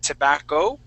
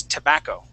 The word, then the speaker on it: tobacco: word is tobacco okay you would said tobacco pronouncing or giving the accent on the o at the end the word is tobacco tobacco okay try that